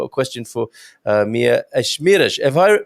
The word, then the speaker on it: Esmeriz: well i've got a question for uh mia ashmirosh if i pronounce that correct okay my my name is hard to pronounce even for portuguese people because it's not a common name at all and we say okay i was good i had 50